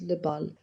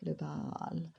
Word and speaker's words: le bal: My special pitch is le bal, which I pronounced low down with the open A, le bal, or that I take high by dwelling on the L, le bal.